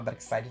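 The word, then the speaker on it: Darkseid: Dark Side Dark Sage por que que se escreve Dark Sage no Dark Side se fala Dark Side no Dark Sage como é que o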